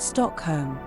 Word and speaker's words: Stockholm: The correct way to say Stockholm in Swedish is actually just Stockholm.